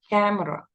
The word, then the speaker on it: camera: There is a fossilization في نطق خطأ كده محفور عندنا اللي هو بنقولها كاميرا كاميرا بس هي ما فيش فيها صوت الياء أو ياء المد اللي بعد الأم دي فبنقولها كاميرا كاميرا كاميرا.